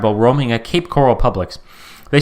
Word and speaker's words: Publix: For those unfamiliar, Publix, which is public spelled with an X, is like a grocery store chain in the United States.